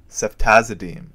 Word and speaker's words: ceftazidime: American or Canadian coin which in this odd case will be pronounced as deem represents ceftazidime SEF team ceftazidime the fourth generation cephalosporins